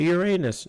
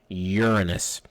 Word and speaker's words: Uranus: planets jupiter saturn this one people will say uranus no it's pronounced uranus uh it actually comes from people always laugh